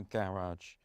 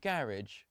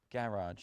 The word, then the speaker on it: garage: formerly my single car garage. Not garage, garage. Is that how they say it in America, Alex? Yeah, Garage. Like cabbage. Like a delicious cabbage soup.